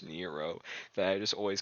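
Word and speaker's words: Nrvnqsr: of the fact that this man's name is spelled in the room sir but pronounce Nero that I just always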